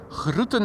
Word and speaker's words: groeten: Groeten met een zachte G, indeed. I'm from the Randstad. I am not even going to pretend that I can say things with a soft G. We speak groeten over here.